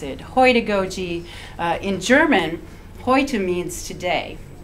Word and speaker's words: Heutagogy: And what I want to talk to you about is Heutagogy, which is an extension of andragogy, and it's self-determined learning.